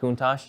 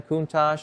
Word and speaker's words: Countach: Countach?